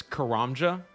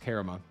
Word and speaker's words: Karamja: because they say it's Karamja. Maybe for you guys, you know, but it's actually pronounced Karama, just so you know, just so everyone's aware.